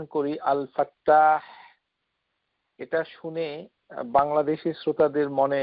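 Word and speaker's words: الفتاح: সেটাকে সেভাবেই দেখবেন কেননা আল ফা তা মুশাদ্দাদ ফাতহা আলিফ হা আল ফাত্তাহ তো এই নামটুকু কোরআনুল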